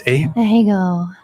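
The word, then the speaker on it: ahegao: How's it pronounced? Ahego.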